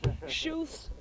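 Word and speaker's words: Schuth: have asked beforehand huh shoes Grove now I asked it's s-c-h-u-t-h not exactly clear how you're supposed to say it shoes grow okay the latest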